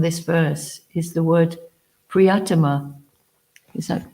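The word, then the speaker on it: प्रियतम: So the first thing that Srila Prabhupada emphasizes from this verse is the word Priyatama. Is that pronounced correct? Have I pronounced it correctly? Priyatama.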